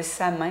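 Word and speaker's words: Samhain: un dérivé d'une fête païenne qu'on appelait le sa main qui possède de le prononcer comme il faut c'était en quelque sorte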